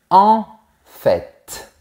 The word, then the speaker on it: en fait: Ensuite, on a l'expression « en fait ». Attention, on prononce aussi le T. En fait.